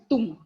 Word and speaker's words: thumb: Not Tom, it's pronounced as Tum.